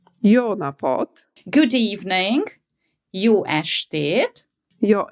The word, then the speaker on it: jó napot: Jó napot. Jó napot.